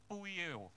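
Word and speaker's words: ποιέω: Kata berbuat ini di dalam bahasa Yunaninya menggunakan kata poieo. Wah susah ini, mesti tanya sama Bu Clara ini, bacanya gimana?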